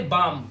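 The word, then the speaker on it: balm: इसी तरह से बाम। बाम तो आपको पता ही है क्या होता है। एल साइलेंट है। ठीक है? और हम सिर्फ बाम पढ़ रहे हैं।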